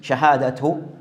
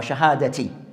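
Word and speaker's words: شهادة: clarify regarding, as mentioned, Shahadatu or Shahadati. Can be pronounced both ways, depending on the i'rab.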